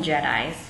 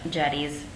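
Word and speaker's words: chedi: things like that and Jetties we called them Jedi cuz that's how it's spelled but jetes um they're like tombs with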